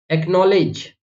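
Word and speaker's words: acknowledge: ऐसे देखिए bridge, bridge लिखा हो देखा होगा आपने कि डी के बाद जी आ रहा है, यहां पर भी डी के बाद जी आ रहा है, तो हमने यहां पर डी को प्रोनाउंस नहीं किया।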